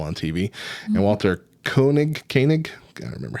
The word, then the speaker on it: Koenig: a prominent role on TV and Walter Koenig Koenig I remember how to pronounce it instant Chekhov Uh Russian character who